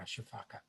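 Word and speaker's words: sifaka: The Madagascar people, or the Malagash, don't pronounce the last A. They call them shifaks and say that's the sound that they make when they jump through the trees.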